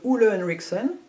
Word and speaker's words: Ole Henriksen: Bright Eye Cream de Ole Henriksen. Essayons de le prononcer à la danoise.